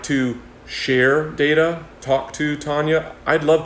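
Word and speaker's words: DETA: education and technological advancement or de ta which they pronounced data that quality and success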